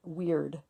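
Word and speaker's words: Wyrd: There is no tarot card that corresponds to the Ein Sof, but there is a rune, a Nordic rune called Weird, and it's spelled W-Y-R-D.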